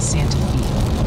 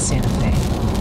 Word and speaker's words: Santa Fe: Multiple sources confirm Santa Fe, Tennessee is pronounced Santa Fe, not Santa Fe.